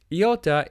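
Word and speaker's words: iota: next we have Yatta Yatta is similar to alpha it looks very similar to our English I however it is pronounced e not I in all the systems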